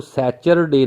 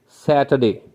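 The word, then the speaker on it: Saturday: याद रखिए, आपने इसको सैचरडे नहीं पढ़ना. सही इसका करेक्ट प्रोनाउंसिएशन है सैटरडे.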